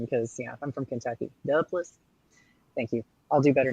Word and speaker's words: Duplass: appreciate the pronunciation because I'm from Kentucky. Duplass.